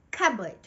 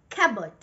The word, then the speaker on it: cupboard: The correct way of pronouncing this word goes without the letter P. Cupboard. Cupboard.